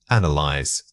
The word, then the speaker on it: analyze: The word is analyze. Say it again. Analyze. This word is often mispronounced with too many syllables or a misplaced stress.